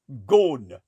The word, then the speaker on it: Ghosn: How do you pronounce that? Ghosn.